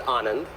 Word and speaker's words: Anand: know first of all it's Anand rhymes with almond and look you know